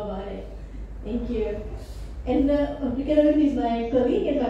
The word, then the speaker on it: Ghita: So my name is Ghita. It's written G-H-I-T-A, but it's pronounced Ghita.